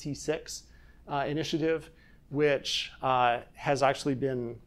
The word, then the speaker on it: CCIX: It is an alternative to the CCIX, it's pronounced C6, initiative, which has actually been running for a while.